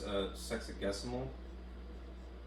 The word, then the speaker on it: sexagesimal: Otherwise known as sexagesimal. Pronouncing that correctly.